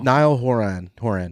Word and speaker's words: Niall Horan: Niall Horan.